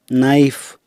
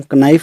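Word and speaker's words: knife: जैसे निट इसको हम कनिट नहीं बोलेंगे, नी इसको कनी नहीं बोलेंगे, नाइफ इसको हम कनाइफ नहीं बोलेंगे।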